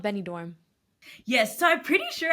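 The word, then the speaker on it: Benidorm: said you went to is it benador right I don't know if I pronounce that right yeah it's called Benny dorm yes so I'm pretty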